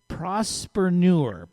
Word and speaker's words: prospreneur: It's called prospreneur. Am I pronouncing it properly?